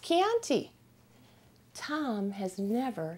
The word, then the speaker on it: Chianti: country called Kean well Kean is pronounced uh Kean with a k a hard k sound but it spelled CH H so every time my husband saw this he said Chianti over and over so